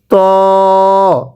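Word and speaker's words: ط: এই যে এই শব্দটার নাম হলো ত। অনেকেই তকে তা পড়ি, এটা তকে তা পড়লে পড়া শুদ্ধ হবে না।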